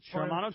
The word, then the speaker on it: Shimano: A Shimano. Yeah, no, you got it. Shimano Torium 20 HG.